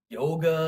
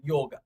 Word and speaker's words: yoga: You want to say yoga. And actually, technically, in North India, in Hindi, it would actually just be yoga. You wouldn't necessarily say the A.